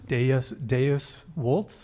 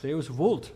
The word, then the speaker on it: Deus vult: So you speaking don't of Latin, Deus Vult. Deus vult. Deus- Don't pronounce it. All the moderns want to do it the German way, but you got to do it like a good Italian.